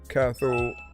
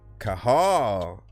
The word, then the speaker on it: Cathal: Cathal Markey. And then if I'm right, pronounce Kahal. Was it Kahal? Kahal? Let me know if I said it right.